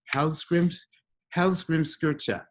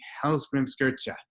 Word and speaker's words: Hallgrímskirkja: Also, as I told you, the name of the church is Hallgrímskirkja. But it's spelled Hallgrímskrka. So that doesn't help you at all, does it? But I've been practicing Hallgrímskirkja.